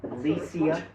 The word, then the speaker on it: Lecia: Lecia. So I thought if you're going to stay on the internet, I thought, oh, I better correct you on that one. It rhymes with VCR. Lecia.